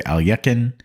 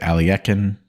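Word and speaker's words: Alekhine: I think it's supposed to be like Well, some people people say alakin and some people say alien. That's like closer to the the mother tongue of how it's pronounced. But alakine is perfectly acceptable.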